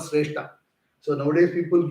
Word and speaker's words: Sreshta: Sreshta means the best, and the most important among them is called Sreshta. So nowadays people name the male child as Sreshta. Okay, you have to pronounce it properly. That's very important.